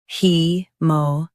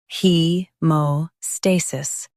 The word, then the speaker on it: haemostasis: he mo stay sis hemostasis Stress stay and keep sis soft. he mo stay sis hemostasis Stress stay and keep sis soft. he mo stay sis hemostasis Stress stay and keep sis soft.